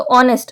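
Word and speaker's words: honest: ओ ये वाला ओ तो ऑनेस्ट अब यहां पे ये साइलेंट है तो आपको ध्यान रखना पड़ेगा की साउंड की बात हो रही है यहां पे आप केवल हा देखेंगे यहां पे ए लगा दो तो ये गलत हो जाएगा ऑनेस्ट है तो एन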